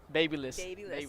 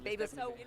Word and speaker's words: Babylist: We were talking about how to best pronounce it, and you say Babylist. Babylist.